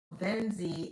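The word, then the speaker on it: Venxii: It's called Venzi. It's It's spelled v e n x i i, but it is pronounced v e n z e e.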